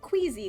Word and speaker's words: queasy: Yeah, it's one of those that we pronounce it like a Z, but it's an S.